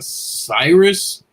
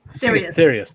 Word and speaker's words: Sirius: And Marvel's Avengers of Wastelands returns in a Cyrus XM. Is it Cyrus? Sirius. Sirius. There we go. I thought I was saying it wrong.